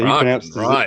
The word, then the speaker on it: Kraken: So Kraken, he pronounces it Kraken.